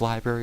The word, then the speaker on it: library: Would you like to look the definition of library up too? I found that... Oh, you said it wrong. You said it wrong. There's an R. Library.